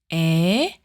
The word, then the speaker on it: ㅔ: A sounds very close to A, but your mouth is slightly less open.